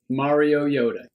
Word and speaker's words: Mariota: Marcus Mariota. Yep. Think Mario Am I saying that Yoda. right? Mario Yoda.